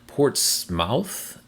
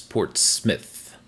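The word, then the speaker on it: Portsmouth: It's a First Nation word and portmouth is Port Smith. Portsmith.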